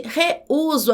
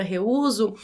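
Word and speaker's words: reúso: Vamos separar as sílabas da palavra reuso. Reuso. Aqui eu tenho um iato porque eu tenho duas vogais, o e o u, que quando na separação de sílabas, essas vogais ficam em sílabas separadas e o u é tônico, é forte, deve receber, portanto, acento agudo.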